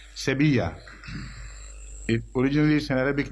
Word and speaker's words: Sevilla: it reads throughout seven it is pronounced in Spanish Sevilla if bridge is an